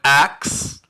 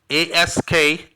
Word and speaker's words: ask: The document says that the caller replaced the word ask with ax. A-S-K, ask, the proper way to say ask.